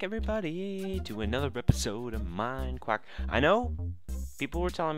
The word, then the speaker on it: MineQuack: we're telling me that I pronounced it mind crack mind quack mine quack get that through your dang head welcome guys another episode